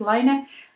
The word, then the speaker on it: Laine: of ler magazine um I pronounce it like we fins do as ler but Lane magazine might be the way you you pronounce it but whatever but